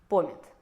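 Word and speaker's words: pomet: В румынском языке оно имеет ударение на первый слог - пОмет - и означает фруктовый сад.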